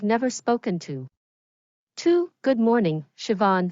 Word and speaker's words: Siobhan: Before he left, he looked closely at Siobhan's name tag, and pronounced her name perfectly out loud, Siobhan.